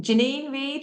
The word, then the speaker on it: Janine Reed: do it when the nominations open again um Janine Reed hello is it J you have said it